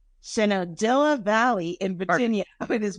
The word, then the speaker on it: Shenandoah: Shenandoah? Shenandoah.